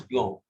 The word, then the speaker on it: blanc: Why do we not pronounce the C? Because F, R, L, C are pronounced at the end. R, the right answer is are generally pronounced at the end. Not in all cases. Okay, it is blanc.